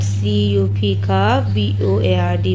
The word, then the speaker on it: cupboard: CUP BOARD board. It will pronounce as cupboard.